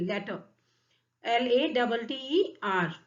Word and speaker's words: latter: लेटर इसका pronunciation है actually, लेटर, LATTER।